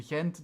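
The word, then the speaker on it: Gent: person, but but in if you go to to Hent, they say with an H.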